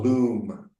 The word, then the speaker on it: bloom: Maybe make a little bit more ooh in the Ooh. bloom.